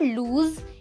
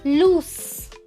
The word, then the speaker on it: loose: सुनो, पहला जो लूज है LOOSE, इस वर्ड का जो साउंड है वो एंड होता है स पे। इट्स नॉट लूज, इट्स लूस। लूस, तो जो लास्ट साउंड है वो स की आती है।